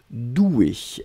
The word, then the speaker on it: doué: être au féminin ici donc on le prononce comme le masculin c'est à dire le masculin c'est des eaux usées un accent aigu là on rajoute juste le 1 mais la prononciation reste la même doué regard d'un pardon